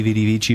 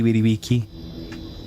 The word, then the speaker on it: vici: But it's salve, salvete, winnie weedy wiki, not veni vidi vici, but veni vidi wiki.